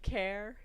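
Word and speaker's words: Caer: Welsh language so um I get care uh C AE r i can get that one um thank you Narnia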